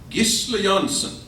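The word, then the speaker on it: Gisle Johnson: Gisle Jansen, to pronounce it correctly.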